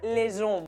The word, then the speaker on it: hommes: Pero hombres en francés es homme, con el artículo delante sería les hommes. Esa H no impide la liaison. Pronunciamos esa S porque después tenemos una vocal.